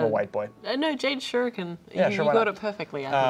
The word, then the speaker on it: shuriken: which is shuriken I don't know how to pronounce that I'm a white boy no Jade shuriken you got it perfectly I um so two